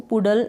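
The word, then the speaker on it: puddle: फिर है यहाँ पर पडल, अब इसको पुडल ना पढ़ें, पडल।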